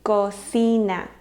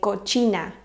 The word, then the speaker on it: cocina: Now, I often hear a lot of my students say cochina. And I think maybe it's from Italian. I'm not sure. There must be a word that they're confusing it with. But cochina in Spanish would be spelled with a ch, cochina, and it would be this. So this is just cocina. So when you see it, just think it sounds just like si, cocina.